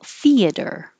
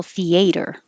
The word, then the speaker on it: theater: cops alluded this one most common is stress on the first syllable theater theater however you will hear people say with stress on the second syllable theater theater but theater i have theater tickets and these two